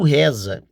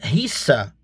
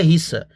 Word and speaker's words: rissa: Tem um pequeno erro aí, tá? Um erro de pronúncia. E talvez um erro de pronúncia e um erro na escrita por causa da pronúncia. Pronunciou errado, escreveu errado, né? Então assim, o o termo mais correto seria risa, tá? O termo mais correto seria rissa. Isso buscando entender na fonte,